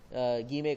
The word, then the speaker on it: guillemets: कहा जाता है, इसके अंदर कहा जाता है गीमे कहा जाता है। ठीक है, तो गीमे इसकी अगर हम इसकी स्पेलिंग देखें तो GUILLEMETS, तो ये हमारे पास जो है सिंबल का नाम है।